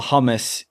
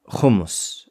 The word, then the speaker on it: hummus: No, it's, the word is hummus or hummus. If you're, depending on where you come from. What language is that? That's the pronunciation from a Hebrew perspective or an Arabic perspective.